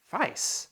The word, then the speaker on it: Weiss: go by Miami Weiss it is pronounced vice vice really and you've